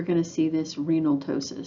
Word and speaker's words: ptosis: to see this renal ptosis so the p is silent it causes the kidney